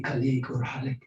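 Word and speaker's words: Khaliq: a l i q so they're hard to pronounce most of people they call me colleague originally from Afghanistan and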